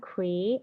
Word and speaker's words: create: you see how cre So it's not ea doesn't make a a long sound it's when two of the words together make a long a sound okay so cre you see how it's separated you you have the long e sound Cree and at So that's not it